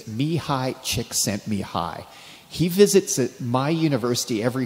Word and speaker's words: Csikszentmihalyi: Now, finally, I know how to pronounce this young man's name. It's Mihai Csikszentmihalyi.